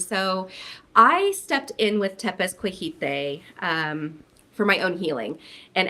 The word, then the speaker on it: Tepezcohite: So Tepezcohite is how you pronounce it. Yep, Tepezcohite.